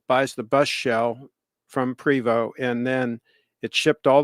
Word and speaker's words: Prevost: and they pronounce it preo it spelled like Prevost but anyway it's French and it's it's a marathon conversion so Marathon buys the shell buys the bus shell from privo and then it shipped